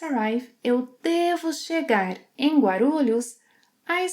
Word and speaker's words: Guarulhos: Guarulhos. Guarulhos. I must arrive at Guarulhos Airport at 7 in the morning. Eu devo chegar, yes, I must arrive, eu devo chegar em Guarulhos às 7 horas da manhã.